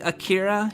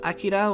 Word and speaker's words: Akira: because you know like people say akira because you know like it's it it follows a more an english american like like um accent style where you have the emphasis on the second um like akira you know uh as opposed to akira which is more like uh flat or or it's not it's not it doesn't have that rise in the middle uh but um but